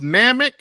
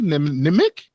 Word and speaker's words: Namek: this mispronounced Namek. Oh my god. It's no way the script could have get past me. I'm like, "What the did he say?" Nim nimic. Nimic. WHAT THE IS THAT?